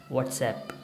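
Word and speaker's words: WhatsApp: व्हाट्सअप बोला जाएगा, जो हमारे पास एप्लीकेशन हम यूज़ करते हैं वो व्हाट्सएप है, उसको हम लोग व्हाट्सअप बोल रहे होते हैं, वो उसकी राइट प्रोनाउंसिएशन क्या है, व्हाट्सएप।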